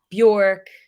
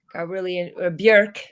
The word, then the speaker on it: Björk: So I got interested in like Tori Amos, Bjork, Björk. Sorry, that's how you say it.